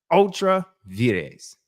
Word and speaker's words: Ultra Vires: Ultra veres. Okay. Or uh there, Mr. President. Ultra ves. All right. If you want to pronounce it uh correctly in the Latin vulgar.